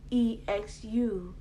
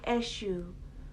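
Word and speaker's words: Exu: a book on xu who is e xu not shu like the um santeria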